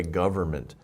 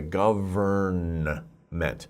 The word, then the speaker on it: government: of it this way govern meant don't pronounce it like that it's government government it's like the n is silent we don't really pronounce the n so it's government government